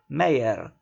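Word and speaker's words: Meyer: say senor maya mayer observed the german emphasizing the last syllable mayer ah true it is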